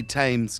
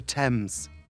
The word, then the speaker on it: Thames: back in the day you can't just say tames because it rhymes with ames it's the river thames british people where have you been why the